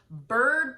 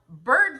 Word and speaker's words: Byrd: regards to this whole bird bath scenario, okay? Now, bird bath in the terms that she is speaking about is spelled B-Y-R-D, not B-I-R-D like a bird.